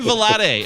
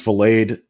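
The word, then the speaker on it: Vilade: stuff but ryan uh i think it's valade valade i believe his pr is pronounced ryan blade uh pronunciation he was he was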